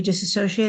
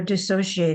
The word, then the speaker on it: dissociate: you said it just we disassociate or dissociate however people choose to say it I've looked it up and it's both ways but that's how I